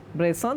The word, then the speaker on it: Bresson: Please note the spelling Robert Bresson, that is a French pronunciation, who lived between 1907 to 1999, who made only 13 films in 40 years.